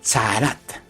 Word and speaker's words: Tzarat: Se escribe con T de Tito, Z, A, R, A, T de Tito.